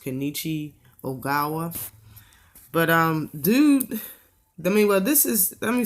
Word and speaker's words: Kenichi Ogawa: old Tevin Farmer against, I believe his name's pronounced Kenichi Ogawa.